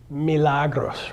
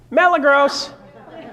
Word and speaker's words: Milagros: name last night what how do you say your name again Milagros right and how do most people pronounce it malagos hey malagos how you